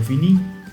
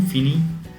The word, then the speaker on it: finis: Another important thing that you have to keep in mind is you you don't pronounce the last s with je je finis, tu finis, il finit.